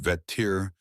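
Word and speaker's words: vættir: The people of this world lived in intimate fearful respect of the veter pronounced veter.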